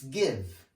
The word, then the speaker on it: give: So make G sounds, not J sounds, okay? So it's get. It's give, it's tiger, not jet or jiv or tiger, okay?